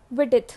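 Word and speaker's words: Widsith: विडिथ, यहाँ पे S silent है.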